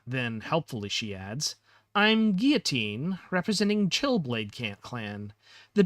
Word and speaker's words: Guillotine: Uh, I didn't really intend for her name to be pronounced the same way as guillotine, the instrument for cutting heads off. Uh, but I just feel like the way that word is spelled seems like it could be the same pronunciation.